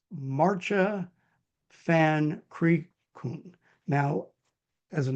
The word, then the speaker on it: Maartje: Please welcome Maartje. Thank you, Ed. Maartje, indeed, well pronounced.